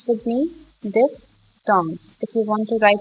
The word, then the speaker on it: diphthongs: This is pronounced this way, diphthongs. As we know that PH sound makes the noise, the voice, f.